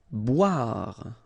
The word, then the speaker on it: boire: Boire. Okay, remember O-I, wa, wa, wa, wa, bois, boire.